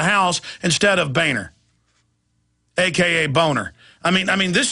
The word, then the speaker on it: Boehner: know why shamed was real name boner I don't know that's how it's pronounced the German is boner I don't know why